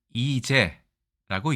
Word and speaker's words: 罹災: 있는지 지금부터 바로 알아보겠습니다 일단이 글자는 우리가 이제라고 읽습니다 자 지금 영상에서 보시는